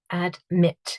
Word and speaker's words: admit: 2 syllables here, and the IT at the end is the syllable that is stressed. So admit. So that final syllable is stressed.